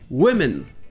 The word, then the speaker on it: women: Et comme je parlais à l'instant du mot woman, il faut qu'on parle de son pluriel où le O se prononce comme un I. Et ça donne women.